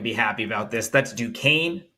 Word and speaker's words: Duquesne: The next game is, I believe, not for today, but Prez, how do you pronounce the opponent of Dayton? What is it? Dayton over Duquesne.